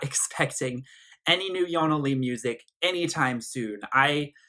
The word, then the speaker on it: ionnalee: under her own name Jana Lee although she spells at i/o and na to pronounce it the way it's supposed to be pronounced in Swedish so that people don't say John le and this is following